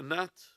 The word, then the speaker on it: gnat: So if this world, this whole world that you live in, was equal to the wing of a ba'udha could be a gnat with a silent G, or a mosquito of the type, a small insect.